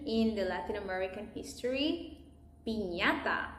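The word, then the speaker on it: piñata: Pinata. And this is how we pronounce it.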